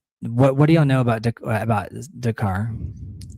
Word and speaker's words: Descartes: Descartes. So the letters that don't get pronounced.